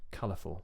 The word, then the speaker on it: colorful: by original stress well take this word colorful okay that's a three syllable adjective well the original word that comes from is color right and the stress that that word carries is on the first syllable so color color therefore